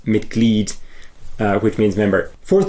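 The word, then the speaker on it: Mitglied: Whereas with a word like mited, it's m i t g l i e d. So you pronounce it miked uh which means member.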